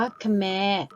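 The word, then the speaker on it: แขม: ขอ ไข่ มอ ม้า เวลา อ่าน ออก เสียง แบบ ที่ 1 ออก เสียง ว่า ขะ แมร์ ซึ่ง หมาย ถึง คน เขมร นะ คะ ส่วน การ อ่าน ออก เสียง แบบ ที่ 2 ให้ ออก เสียง ว่า แขน แต่ ถ้า ซึ่ง เป็น ชื่อ ของ ไม้ ล้ม ลุก ชนิด นึง นั่น เอง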